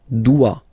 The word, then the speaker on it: doit: Il, elle, doit. Final T not pronounced. Il doit, elle doit.